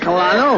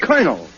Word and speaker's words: Colonel: In military parlance, C-O-L is pronounced Cur, as in Colonel.